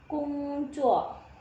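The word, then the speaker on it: 工作: Ni zuo shenme nada kedua ya, shen a shenme gongzuo. O ini bacanya U, jadi bukan kong tapi U. ONG bacanya ong, bukan ong ya. Jadi gongzuo. Oke, ni zuo shenme gongzuo.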